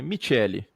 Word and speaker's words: Michele: vou começar a chamar pela pronúncia italiana correta que é michele ltda me to